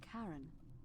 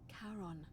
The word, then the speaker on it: Charon: It's just as you described it, only your pronunciation is a little off. The name you heard wasn't Karen. It was C-H. Karen! Oh my god! Charon, the ferryman of the dead.